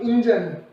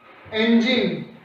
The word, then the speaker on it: engine: इट्स नॉट इंजन, right pronunciation is द engine।